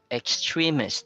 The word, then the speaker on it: extremist: Extremist. So it maintains the stress of the word extreme. So it's in the second syllable.